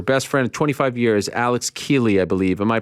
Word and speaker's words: Keeley: your your your best friend 25 years alex keeley i believe am i pronouncing his name correctly keely alex keeley yeah yeah he walks out of the o2